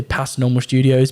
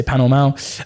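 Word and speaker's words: Pas Normal Studios: Some people say Past Normal Studios, but I say Panel Mal.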